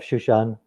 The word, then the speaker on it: Shushan: Am I pronouncing your surname right? Yeah, close enough, Shushan.